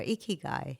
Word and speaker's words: Ikigai: Ikigai. Ikigai. Is that the correct way of Yes, pronouncing it? Ikigai. Perfect.